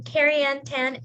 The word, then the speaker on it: KariAnn Tan: And now I'd like to introduce Carrie Ann Tan. Am I pronouncing your name right?